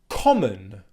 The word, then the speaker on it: common: lessons the next word common common common a Kate common in English is a very common word and the schwa sound at the end of the word in common is a very common sound but because it's spelt